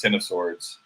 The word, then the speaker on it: X of Swords: on the wikipedia page it is pronounced ten of swords which i i'm gonna say like i get it it's a reference to the tarot card but we were talking